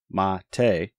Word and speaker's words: MATE: desktop page was a quote the name mate pronounced mate comes from BBA mon a species of Holly